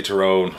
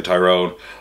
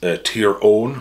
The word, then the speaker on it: Tyrone: terrone Wallace Tyrone Wallace I say terrone some people say Tyrone I you know I whatever Way Tyrone pronounces it I'm cool with that just to be clear I'm thinking of the county the name comes from uh which is tier own which is the uh